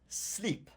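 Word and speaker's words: slip: mesuel body rita nonafredo now this word we pronounce sleep it's masculine plural so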